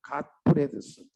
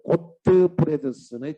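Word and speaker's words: Gottfredson: 또 발달 이론의 대표적인 사람이 갓 프레드슨. 자뭐 영어 발음에 GOT니까 갓라고 읽어도 되고 소리 나는 그대로 고트 프레드슨의 직업포부 발달 이론 이렇게 써도 되겠습니다.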